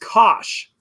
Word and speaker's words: cosh: of X ascention X hyperbolic cosine is pronounced cosh the cosh of X